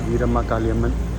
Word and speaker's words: Veeramakaliamman: It's actually pronounced Veeramakaliamman.